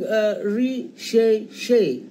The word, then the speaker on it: recherché: It could be something re-she-she. See, it's spelled as R-E-C-H-E-R-C-H-E, something recherché, something rare, something exotic,